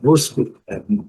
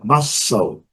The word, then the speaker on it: Moscow: Pode falar Moscou, Moscou, né? Nada disso, é Moscow.